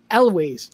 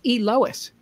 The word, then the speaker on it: Lois: I always said Eloise. No, Eloise. I always said, no, I didn't say Eloise. I said, now I can't pronounce it. That's good, because Mark Nadler corrected me. He said, no, it's Lois.